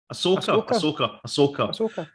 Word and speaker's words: Ahsoka: and Andor, and the Do you say Ahsoka or Ashoka? Ahsoka. I don't know why I keep saying Ashoka, but it's Ahsoka.